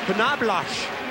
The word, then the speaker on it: Knoblauch: I just found out today that Knobloch in German is pronounced Knoblauch, and it stands for garlic.